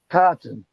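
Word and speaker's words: chitin: made out of and this stuff is spelled c h i g i n but you say it cotton cotton and what is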